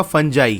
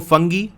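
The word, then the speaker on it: fungi: तो ये जो आपको लिखा है ना, इसके कई सारे प्रोनाउंसिएशन है। कॉमनली इसको फंजाई कहा जाता है, बचपन से हम लोग यही पढ़ के आए हैं। बाकी इसको फंगी और फंगाई भी कहा जाता है, जो सही लगे वो प्रोनाउंस कर लो, मैं तो फंजाई कहता हूँ।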